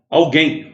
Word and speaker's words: alguém: Alguém. O U não é pronunciado. Então, o GU forma um dígrafo.